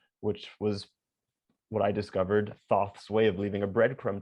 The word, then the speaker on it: Thoth: of the emerald tablets and the book of thoth and things like that so i had an idea and i just so happened to have a cat named both which was what i discovered thoth's way of leaving a breadcrumb trail for me